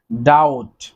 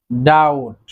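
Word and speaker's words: doubt: দেন রয়েছে ডাউট, ডাউট। আপনারা খেয়াল করবেন যে শব্দগুলো আমরা শিখছি সবগুলোতেই কিন্তু বি এর উচ্চারণ সাইলেন্ট থাকছে। ডাউট, বি এর উচ্চারণ হচ্ছে না।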